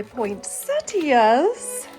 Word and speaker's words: poinsettias: I'm going to put out my poinsettias. And yes, that is how they're pronounced, believe it or not.